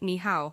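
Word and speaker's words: 你好: to say hello in Chinese you can say niow which is written as niow in simplified Chinese niow did I say it correctly yes Sean you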